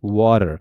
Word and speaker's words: water: So the T sound become D, water.